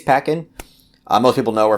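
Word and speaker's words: Paquin: around anna pakkin's character i believe that's how you pronounce her last name it could be pacquin but i think it's peckin uh most people know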